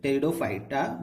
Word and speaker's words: Pteridophyta: We have to read like this, Pteridophyta, because P is silent here.